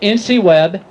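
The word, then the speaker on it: InciWeb: not know of ncweb nc web which is spelled i n c i the first four letters of incident and web like the web is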